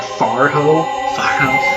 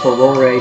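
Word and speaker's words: Farore: That I believe it's pronounced Furore, but for me it sounds more believable saying Farho, because that's what I grew up saying.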